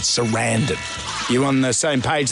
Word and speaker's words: Sarandon: You've got to think of abandon when you say her name because we say Sarandon, but Sarandon.